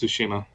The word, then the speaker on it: Tsushima: Is it pronounced Tsushima? Yes, Tsushima.